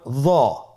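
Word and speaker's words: ظاء: হরফটির নাম হলো য। হরফটির নাম কি? য। একটু মোটা করে বলতে হবে। হরফটি হলো মোটা হরফ, বারিক করে পড়া যাবে না এবং হরফটি উচ্চারণ করার সময় অবশ্যই 1 আলিফ টেনে পড়তে হবে।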